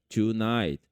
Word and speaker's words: tonight: todas as palavras basicamente A grande maioria das palavras que tem GH Não é pronunciado esse GH e esse T vai